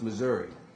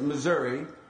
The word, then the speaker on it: Missouri: how do you pronounce Missouri okay so I know you pronounce it Missouri and I know you